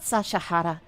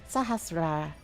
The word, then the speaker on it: Sahasrara: Well, Sahasrara. Not Sashahara, Sahasrara.